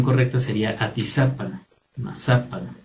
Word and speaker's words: Atizapán: Todos estos lugares que terminan en AN, realmente su acento, en toda la lengua náhuatl, la acentuación es grave en la penúltima sílaba.